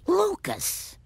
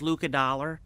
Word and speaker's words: Lucas: Lucas. It's pronounced Luca Dollar.